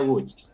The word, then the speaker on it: Łódź: Tulisannya Lodz tapi bacanya Łódź. Łódź.